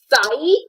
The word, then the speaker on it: psi: is the psi angle how will you remember this psi the syllable is c right right this syllable is like c so this will be between c and c and this one is